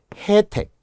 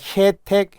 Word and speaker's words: 혜택: 둘 다 가능하다고 했으니까 표기처럼 매별이라고 하는 것이 원칙 단모음으로 발음하는 걸 허용한다는 거죠. 매별 매별 해택 혜택 그러나 아이해로 바꾸면 안 된다는 거죠.